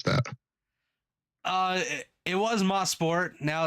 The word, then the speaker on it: Mosport: tell us the pr the correct way to pronounce that uh it was mosport now it's Canadian Tire motorport Park ah gotcha